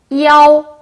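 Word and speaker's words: iao: 그래서 이에라고 읽습니다. 자, 그리고 I 뒤에 뭐가 왔어요? 아오가 왔어요. 어떻게 읽을까요? 이아오.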